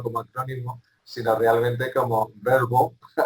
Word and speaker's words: VRBO: Pero la verdad es que cuando pensamos en una marca global Verbo, primero en Estados Unidos ya era, había mucha gente que lo llamaba así, ¿no?